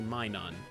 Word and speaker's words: Minun: It's actually Minun, which makes sense. Because it's Minus.